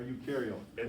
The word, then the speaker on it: eukaryotic: and eukaryotic you are eukaryotic this is pronounced u e u is pronounced u i don't know why but that will make